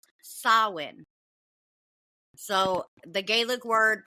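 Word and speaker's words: Samhain: person everyone um with that being said it's sawin so the Gaelic word pronunciation sawin was the name of the Celtic Festival at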